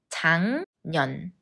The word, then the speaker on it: 작년: 작년 Just like 생년필 when 기역니은 기역 becomes 이응 작년 작년 올해 날씨가 작년이랑